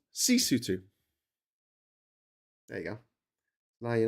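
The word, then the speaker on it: Sesotho: Uh, lutu is pronounced lutu. The people are called basutu and the language is called cisutu.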